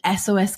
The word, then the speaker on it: Esoes: just um over two years ago I founded SOS cosmetics and it's spelled funny it smelled like my hat e-s-o-e-s